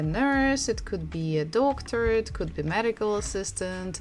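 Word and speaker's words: доктор: is doctor doctor so we stress the first syllable or doctor so we can guess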